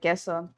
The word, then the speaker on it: KSO: His name is Keso, and it's KSO. It's spelled KSO, but he pronounces it Keso.